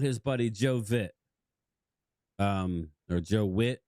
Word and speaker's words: Vitt: Or Joe Witt. I think it's pronounced Witt, but it's spelled with a V.